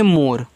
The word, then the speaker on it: more: आगे MORE, इसको पढ़ते हैं मोर। तो देखो यम से मा, ओ से ओ की मात्रा मु, आर से रा, लास्ट वाले ई का उच्चारण नहीं होता है मोर।